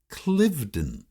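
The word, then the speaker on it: Cliveden: home in germant toown is often pronounced clivden just like its Nam sake the huge Manor House in buckinghamshire England even though the Philly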